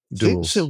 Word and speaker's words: Dulles: Yep, let's go with duels. That is one pronunciation. That was his father's nickname at Princeton. Really? Duels.